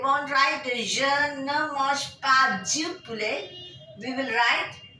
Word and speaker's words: pas: We will put a N-E, N, and P-A-S, pa.